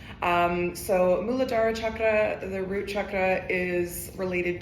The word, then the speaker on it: chakra: It is the popular pronunciation in the Western world, but chakra is not how that word is pronounced. It's actually chakra.